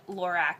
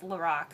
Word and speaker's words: LORAC: to pronounce that by the way i've been pronouncing it lorac and it's lorac so fail um let's see uh what else